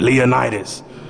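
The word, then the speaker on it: Leonidas: you got to say his name like that leonitis you know imagine you you know you show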